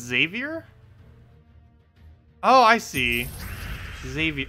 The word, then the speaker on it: Xavier: oh I see Xavier okay that kind of makes sense for its pronunciation then Xavier Xavier that seems kind of weird though because it's an X not a z but that does sound correct Xavier xylophone oh yeah that works xylophone xylophone yeah I guess you could say it with a z instead of an X that kind of still works also how do we